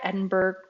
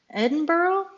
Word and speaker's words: Edinburgh: was an undergrad at Edinburg Edinburgh I always get that messed up because I know that the Scottish say it a certain way and it's not the way that Americans say it but anyway Edinburg that's